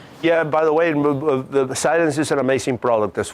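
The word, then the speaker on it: Cylance: So, How do you spell that? CY. CY. L-A-N-G-A. LAN. CY? Yeah. Silence, yeah. Silence. Yeah. LA? Yeah, A-N-C-E. Silence.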